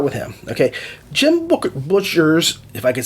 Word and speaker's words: Butcher: him okay jim booker butcher's if i could say his name is not booker it's butchers peace talks is not